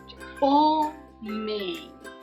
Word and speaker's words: homem: Homem. A inicial é a letra H, porém nós pronunciamos o som da letra O. Homem.